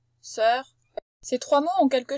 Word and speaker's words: sœur: Voilà notre O E bouclé U qui se prononce E. On dit pas œuf, on dit pas sœur, on dit pas cœur, on dit cœur, sœur, œuf. C'est un E ouvert.